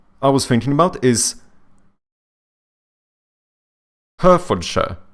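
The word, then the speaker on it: Hertfordshire: was thinking about is Herford sh right which is like her for sh HF for Shire or something but I think you guys pronounce it horda or something mad I find this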